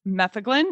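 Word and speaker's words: metheglin: Anastasia, what is methaglin? And I'm not even sure I'm pronouncing that right. So feel free to correct my pronunciation. But you're definitely you're definitely pronouncing it right.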